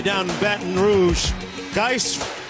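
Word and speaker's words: Guice: down the Baton Rouge dice rhymes with red beans and rice the net wings mom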